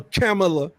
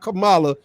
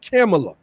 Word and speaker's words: Kamala: obama's presidency is that we didn't allow a camela and that's how you pronounce her name not kamala kamala kind of ghetto size is her name and makes it acceptable no her name is pronounced camella and we see that we're not going to